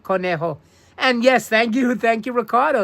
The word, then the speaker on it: Conejo: Conejo. And yes, thank you, Ricardo. Yes, of course. E is pronounced like A in Espanol. So you did pronounce it correctly. Thank you, Andrew. Conejo.